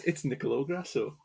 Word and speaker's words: Nicolò Grasso: It's Nicolò Grasso. I think I've pronounced your name right.